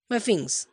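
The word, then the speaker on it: sphinx: আই এন এক্স এস এর উচ্চারণটা হয় না উচ্চারণটা হয় ফিনিক্স ফিংস ঈশান বলছে ওটা ফিনিক্স Ishan it's rock statue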